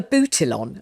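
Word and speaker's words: Abutilon: I was terribly proud of my, I don't know, how do you pronounce it? A boutilon.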